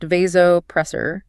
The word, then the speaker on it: vasopressor: A patient with dangerously low blood pressure needs a vasopressor, pronounced vasopressor.